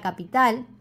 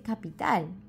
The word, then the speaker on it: capital: bastante la palabra capital que no se dice capital ni capitalo si con entonación en la primera sílaba y al finalizar no no se pronuncia la t como tal sino que es más como una r suave y cambia la vocal de la A a la o capital cap muy bien